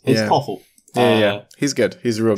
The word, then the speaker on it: Thoralf: Oh God, how do you pronounce that? Sorry. I is just it call him Sever or something? Yeah, it's Toffel.